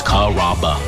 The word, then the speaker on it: Carrabba: Growing up, people always had a hard time pronouncing my name. People chop it up pretty good. You know, Carrabba, Carrabba. It's a really easy name to pronounce. It's Carrabba.